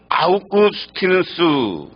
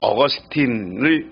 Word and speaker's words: 아우구스티누스: 하나는 성 아우구스티누스, 우리가 흔히 이름은 라틴어로 얘기하면 성 아우구스티누스라고 하고요. 우리식으로 영어식으로 하면 어거스틴을 이렇게 발음합니다. 어거스틴의 어머니 모니카와 네로 황제 어머니 아그리피나가 그들입니다.